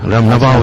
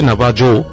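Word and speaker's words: Navajo: যায় একটা সময় ও এটা কারা বিলিভ করে নাবাহুরা নাবাহু ইন্ডিয়ানসরা যদি লেখায় আসে নাবাজো বাট একচুয়ালি প্রোনাউন্স হচ্ছে নাবাহু আচ্ছা এই নাবাহু সম্পর্কে একটু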